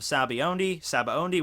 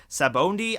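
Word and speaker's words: Sabaody: got wrong below, like my pronouncing of Sabaondi, which I know is probably going to get a lot of... That's how they pronounce it in the Funimation dub, and I listen to the Funimation dub, so that's how I pronounce it.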